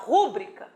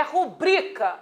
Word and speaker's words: rubrica: Zerou a pronúncia correta a prosódia é rubrica e não rúbrica é rubrica a quem